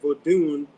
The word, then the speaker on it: Vodou: V O D O U which is a spin-off of the EA or Vodun in Benin. It's V O D U N Vodun and coming into the new world in the Americas.